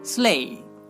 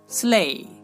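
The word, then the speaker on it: sleigh: তেমনি করে আমরা বলতে পারি স্লে স্লে। দেখুন এখানেও কিন্তু আমরা আই জি এইচ পাচ্ছি, স্লে, আর তার উচ্চারণটা হচ্ছে কি? এই।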